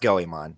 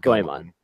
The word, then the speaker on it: Goemon: that from me yeah um yeah anyway it's pronounced going on not going on and the only reason I know that is